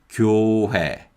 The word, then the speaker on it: 교회: In the first syllable, we have 기역 with the vowel 요, the Y glide vowel, 요. So it's 교, 교. And in the second syllable, we have 히읗 with the vowel 회. So it's 회, 회, 회. So this is 교회, 교회.